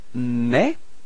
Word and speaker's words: mes: So you've got mais. Repeat. Mais, so you can see that you don't pronounce the final S, okay, but it, this combination ES gives you the sound E, okay?